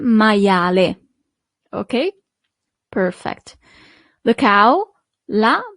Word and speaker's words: maiale: You see, as we have seen with the alphabet, the letter I is pronounced as I, maia, and then the letter E at the end is always pronounced as E in Italian. Il maiale.